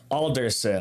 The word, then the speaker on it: Alderson: Alderson. Alderson. So like an alder, but then a son of an alder.